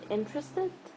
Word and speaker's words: interested: So in this word interested, in is the stressed syllable. Interested. Interested. See, I'm stressing this letter I at the beginning. Interested. Interesting. So this is the stressed syllable. The rest of the syllable, like tressed and ed, are not stressed. Only the first one is stressed.